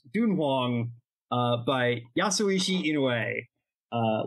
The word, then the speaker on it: Tun-Huang: cool little book called tun Hong uh or if I'm going to be pedantic about it it should be pronounced dun Hong uh by yasui Ino